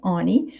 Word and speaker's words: Alex and Ani: ani alex and ani people say annie but they pronounce it ani which are actually um